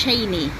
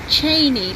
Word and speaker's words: Cheyne: It's Cheney. Cheney, like a chain, like a bicycle chain with an E on the end.